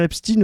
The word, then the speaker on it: Epstein: C'est pour ça que les gens disent Epstein dans la majorité des cas. C'est qu'on est habitué à prononcer ça comme ça, avec un suffixe à l'allemande.